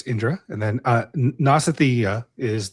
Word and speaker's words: Indra: the sun um Indra Indira yeah that's how they spell it there but it's Indra and then uh Nasathya is the the ushins or the the horsemen.